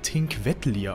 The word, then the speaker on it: Thingvellir: My research revealed that it's pronounced something like "Tinkwettlir," but as always, that's subject to change.